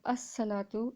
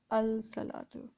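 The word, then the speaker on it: الصلاة: this l this lamb so we have a salatu and not al salatu okay so we have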